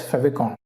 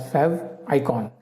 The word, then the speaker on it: favicon: So in this video we are going to learn one more concept called as favicon, or you can pronounce it as favicon.